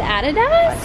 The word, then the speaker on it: adidas: did you say that you said added us Americans say adidas Australians say ah tada ah America and say